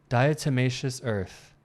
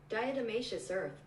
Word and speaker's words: diatomaceous earth: of uh dious Earth I need to make sure I'm saying that pronunciation dious Earth dious Earth yeah I was saying it correctly and here's the British